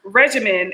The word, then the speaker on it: regimen: You say uh regime, a system of government. Okay. Yeah. Syllables. Regimen, a regulated course of treatment. Period. Uh, three syllables, just the tips.